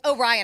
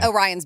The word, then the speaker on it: Orion: said look isn't that a belt I'm sorry oh Ryan I'm saying it wrong Orion's Belt yes oh see that I know Orion